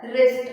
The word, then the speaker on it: wrist: is called your wrist and we don't pronounce it as theist it will be pronounced as wrist r i s wrist but you will write